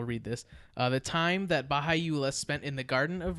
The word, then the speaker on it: Baha'u'llah: Yeah, it's actually it was founded in the 19th century by a guy named Baha'u'llah, I believe it is pronounced.